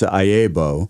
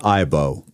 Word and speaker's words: IAABO: was an iebo member he was always ayebo the newer generation or calling it IBO so well that's interesting pick whatever acronym where's your accent yeah the syllable there yeah so but we answered either one very very good I